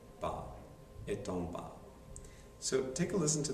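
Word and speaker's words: bas: is ba b s no s pronunciation ba so take a listen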